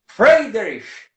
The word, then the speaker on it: Friedrich: Muito bem, ele nasce, o Friedrich, vamos pronunciar, aprender a pronunciar o nome, não é? De uma forma germânica. Friedrich Ernst Schleiermacher, né?